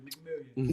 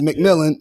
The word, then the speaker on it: McMillion: That's how you pronounce it, McMillion. But you know, but people look at it like it's McMillan. Everybody think it's McMillan. No, it's McMillion.